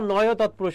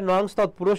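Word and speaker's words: নঞ তৎপুরুষ: এবার আছে দেখো নয় তৎপুরুষ। অনেকে উচ্চারণ করে নংস তৎপুরুষ, না এটা নংস না, এটা কি হবে? নয় তৎপুরুষ হবে।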